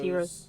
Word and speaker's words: gyros: They're spelled like gyros. Oh, Euros. But they're pronounced heroes. Gyros.